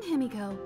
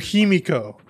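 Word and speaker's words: Himeko: pronounce that name that is not that's not how you pronounce that name you're not him you're he because you'll never be him you're himiko also that's how you're supposed to pronounce it you've already gotten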